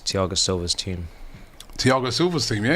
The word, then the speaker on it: Thiago Silva: It's Thiago Silva's team. Thiago Silva's team, yeah, you're right. Indeed, yeah. Thiago Silva. That's how you would say his name in Brazil.